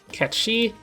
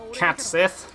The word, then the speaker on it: Cat Sìth: another Gala showcase and Ketchi is kinda crazy. Note, it's Ketchi, not Cat Sìth, because it's not it's a Gaelic name, right?